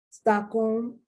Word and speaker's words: Stockholm: Stockholm in Sweden, Holmes, Colonel.